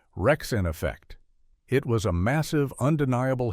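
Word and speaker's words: Wreckx-N-Effect: The song was Rump Shaker by a group called Rexen Effect, pronounced Rexen Effect.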